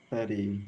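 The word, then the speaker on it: thirty: This shows why it's important to put the stress on the correct syllable in 13, and the stress is on the second syllable, and in 30 the stress is on the first syllable.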